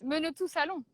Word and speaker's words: Menetou-Salon: they said hi in English I always say men are to sell own but it's a little more subtle how do you pronounce in French yeah you're correct minute to settle minutes you say okay it looks like a